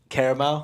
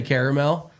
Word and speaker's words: caramel: every single syllable um how do you say caramel Yaya caramel you say caramel see I say caramel do you say carel yeah see that which